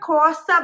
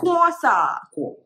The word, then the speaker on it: croissant: It's a croissant, baby. What is it? Croissant. KWO. Croissant. KWO. আচ্ছা, কিন্তু এখানে তো pronunciation is KW.